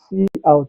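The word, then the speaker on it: cout: So see out stands for console out and it's pronounced see out not cut or something like that.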